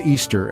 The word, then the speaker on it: Ishtar: Ishtar is pronounced Easter, and the egg and bunny symbols we associate with Easter today were originally fertility symbols of Ishtar's.